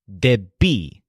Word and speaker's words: debí: To say I owed or I needed in a preterite tense, the word is debí. So the stress is on B. Debí.